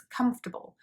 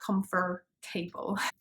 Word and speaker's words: comfortable: even though it's there so it's comfortable not comfort table as you know in british english the r sound when it's in the middle of words often kind of disappears and you can't really hear it uh